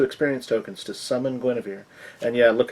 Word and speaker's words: Guinevere: So, see, it says there, Dritz can spend 2 experience tokens to summon Guinevere. And yeah, look how that's spelled, but that's actually pronounced Guinevere.